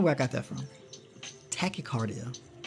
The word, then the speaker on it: tachycardia: how to say it tachycardia right yeah okay why do I say Tetra cardio that's not how you say it I don't know where I got that from tachycardia it's caused by one